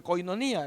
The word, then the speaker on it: koinonía: una palabra griega que se dice koinonía se escribe koinonía y tales así se pronuncia y koinonía lo que